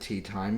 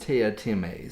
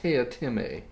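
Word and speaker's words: Teatime: you're reading the book and you're wanting to pronounce it tea time you're not alone because throughout the book he's constantly having to remind people that it's pronounced tia tieme so everybody else apparently wants to call him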